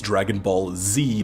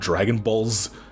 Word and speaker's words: Dragon Ball Z: you capitalize the Z it's Dragon Ball Z not Dragon Balls not Dragon Balls not